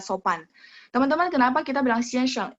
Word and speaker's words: 先生: Teman-teman, kenapa kita bilang 先生? Itu pinginnya X-I-A-N ya, X-I-A-N S-H-E-N-G. Cuman memang bacanya A-nya jadi E, 先生.